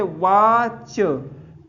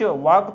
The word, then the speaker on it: watch: अब देखते हैं अगला, जैसे वाच, WATCH। तो अब देखो इसको क्या पढ़ा, CH को चा, वाच, वाक तो पढ़ते नहीं, वाच।